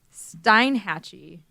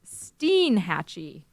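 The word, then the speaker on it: Steinhatchee: stuff on thing okay let's go to uh Stein hatchee what it's actually pronounced Steen hatchee I don't even know what that is it's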